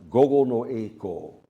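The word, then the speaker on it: 午後の曳航: It's pronounced gogo no eiko.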